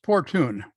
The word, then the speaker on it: Portune: Just Portune. We dropped the French E, which was originally Oh, pronounced. we did. All right. Yeah, So it's just Portune. that's all.